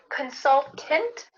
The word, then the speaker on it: consultant: Like I just did, consultant, or you could kind of swallow that last syllable and say, I'm a consultant.